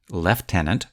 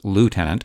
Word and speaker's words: lieutenant: later the lieutenant governor pronounced lieutenant british versus lieutenant american is bc's representative of